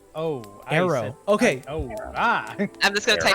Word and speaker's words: Eero: Eero. The O and the O switched. Yeah, and then I was thinking it was like Eero, and I'm like, oh, Arrow.